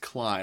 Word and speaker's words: Klaj: I'm pretty sure Klaj, Klaj, is pronounced Cly, like Sly with a K.